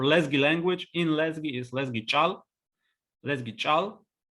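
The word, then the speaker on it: Лезги чӀал: So, for instance, the word for Lezgi language in Lezgi is Lezgi chal, with adjective abruptive ch at the very beginning.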